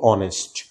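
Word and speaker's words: honest: সেই দুইটা ওয়ার্ড হচ্ছে, এটার উচ্চারণ আমরা করব আওয়ার এবং এটার উচ্চারণ করব অনেস্ট, আওয়ার, অনেস্ট। তো এখানে এইচটা কিন্তু আমরা সাইলেন্ট করে দেব, এইচটা সাইলেন্ট করে দেব, আমরা উচ্চারণ করব আওয়ার, অনেস্ট, এইভাবে আমরা উচ্চারণ করব।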